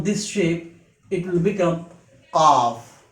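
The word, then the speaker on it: قاف: Its pronunciation in English is Q-A-A-F, qaf. It is a heavy letter and it is an emphatic sound of the letter K. It emerges from the deepest part of the tongue, what lies against the soft palate.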